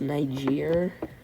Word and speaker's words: Niger: It's pronounced Niger. Um, so yeah, they know as far down as areas of like northern Ethiopia, the southern Nile or the upper Nile, um the Niger River, but that was only because of the